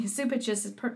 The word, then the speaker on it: Cupich: Where I don't know the whole incident, but I know that like Cardinal, how do you say, Supich? I've been calling him Cupich, but anyway, Supich is persecuting this priest who was sexually abused by a priest when he was a seminarian.